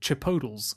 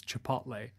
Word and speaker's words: Chipotle: a new kid on the block which is pronounced cheap hotels around my neck of the woods but you probably know it as chipotle to poach is chipotle which is a sort